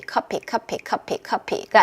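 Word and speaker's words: coffee: 미드는 알아듣기가 너무 쉬워요 카피 카피 카피 커피 커피 커피 커피가 아니라 커 하고 턱 내려가야 돼요 커 턱 내려 보내세요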